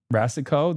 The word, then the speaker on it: Rassicot: Rassicot, the T is silent.